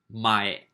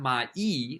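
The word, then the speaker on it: 前: And before, the second one up from the bottom, before or previous, mae. Mae. Not mai. Mai means like every. Like every day is mainichi. But in front of something, mae.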